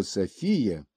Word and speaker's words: София: греческим языком, заметим, что в древнегреческом языке слово София, мудрость, премудрость, произносилась с ударением на предпоследнем слоге, в то время как современное женское имя Софья произносится с ударением на первом слоге. В современных философских рассуждениях ударение в слове Софии необходимо ставить на предпоследнем слоге по древнегреческому образцу.